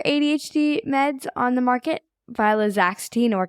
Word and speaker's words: viloxazine: Viloxazine or Qelbree? Woo, that's a mouth. It's actually viloxazine or Qelbree, but I also have trouble pronouncing it, so I think this may be genetic.